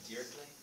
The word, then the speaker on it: Dirichlet: It's a French name. Of course. Of course it's French. Pronounced Dirichlet.